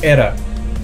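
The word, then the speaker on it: Aera: Ele escreve A-E-R-A, só que eles pronunciam ali no japonês Era.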